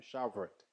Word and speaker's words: Shavuot: Je vais me prononcer là, ma PC doucement, ma banne, Shavuot. Il est écrit comme ça, S-H-A-V-O-U-O-T.